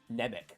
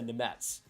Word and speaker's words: Nemec: If you actually said it how it was spelled, you go Simon like Nemec or something, or even like Nemec, but it's a Nemetz, which I always find interesting.